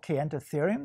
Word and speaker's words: Kayentatherium: So this animal right here, can you pronounce it for this us? This is called Caenotherium.